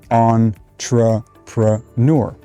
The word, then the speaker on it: entrepreneur: a british pronunciation now the most common accepted pronunciation of this word is on just like on off tr nur entrepreneur now